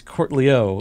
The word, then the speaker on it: Cortelyou: But it's Cortelyou is the name.